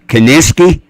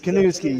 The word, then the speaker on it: Kanuski: He'll be bringing a new show on WO Entertainment, the Kaniski. Isn't that how it's said? That's the Kanuski, yes, sir.